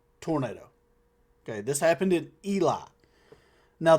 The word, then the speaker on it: Elie: Now, the only reason I know how to pronounce that is because I I looked at the comments. I'm not going to lie. And and you know, a lot of people getting upset. This dude's calling it Ellie.